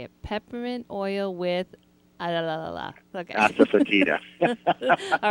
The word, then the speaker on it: asafoetida: Asafoetida.